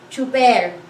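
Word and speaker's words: tsuper: It's t and s, it's ts, and then u, it's two. It sounds like ch, ch, but this one we spell it as t and s instead of c and h.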